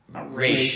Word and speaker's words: Ra's: Ra's is actually how you say his name.